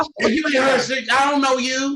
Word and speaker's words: HerShe: Well, it's HerShe, like the chocolate, but it's spelled like her and she.